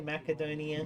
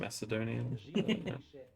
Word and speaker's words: Macedonian: CA did you say Macedonian Macedonian the C is an S is it I I've